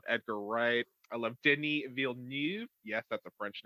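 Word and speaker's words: Villeneuve: tarantino i love edgar wright i love disney veal neve yes that's a french name and i pronounced it perfectly um i love action i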